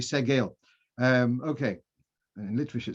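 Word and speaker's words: segol: the major part in the word sade i pronounce it wrong it's yeah so you've got the major and the minor according to this it should be the circle should be segal um okay and literature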